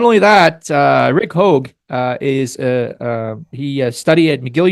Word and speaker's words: Hoge: So I think she face palmed our pronunciation, Alex. So Rick Hoge. See, I got it. So Rick Hoge.